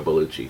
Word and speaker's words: Bellucci: Monica Bellucci, or Bellucci is how you say her last name.